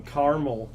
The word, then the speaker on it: Kamala: It's like caramel in American, Kamala.